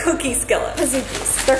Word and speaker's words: Pizookie: Okay, we are gonna eat our pizookie.